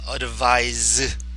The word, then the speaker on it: advise: 동사는 advise, z, easy. 이건 유소음이고요. 이건 무소음이에요.